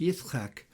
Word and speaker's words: Yitzchak: Isaac, for example, is pronounced Yitzchak, Jacob as Yaakov, Hezekiah as Hezekiahu, Ezekiel as Yehezekel, and so on.